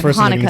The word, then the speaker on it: Hanukkah: between hanukkah and chanukah even though it's really hanukkah it's hanukkah so yeah it's not pronounced i know it's not pronounced chinese but